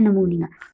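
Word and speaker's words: pneumonia: है वो है निमोनिया पीस में साइलेंट है तो इसको आप बोलते हैं निमोनिया इट इज an infection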